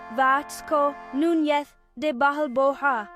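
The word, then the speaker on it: Vasco Núñez de Balboa: Vasco Nunes de Balboa pronounced Vatco Nunth de Bahal Boha was the first European to see the Pacific.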